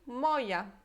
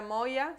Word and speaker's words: moja: Então, se você escrevesse assim, moja, em polonês a gente ia ler isso moia, moia, tá? Porque é som de y é y. Agora, a palavra moja se escreve assim, com J.